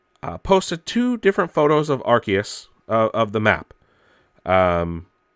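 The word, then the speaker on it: Arceus: suggesting that Pokemon Legends archus or arus depending on how you pronounce it may not be as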